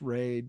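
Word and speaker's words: Wray: three dimensions you need to tune in to Ry and watch Ray Ry is spelled w r a y raeline uh I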